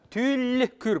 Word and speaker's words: тюллекюр: Мягко. Тюллекюр, потому что перед звуком «л» мягкая гласная «ю».